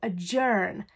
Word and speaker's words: adjourn: order we can also adjourn a meeting it is about a DJ oh you are and adjourn is the pronunciation to adjourn a meeting